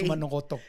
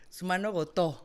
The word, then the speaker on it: Sumanogoto: Hay que invitarla al programa, la doctora Amparo Sumanogoto, así se pronuncia, o sí. Sumanogoto. Sumanogoto. Gotó con acento en la O.